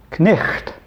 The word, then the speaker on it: night: Or night is even more complicated, was at one time pronounced knicht, the way the GH was a guttural sound, like in the Scots dialect when they talk about a lake, they call it a loch.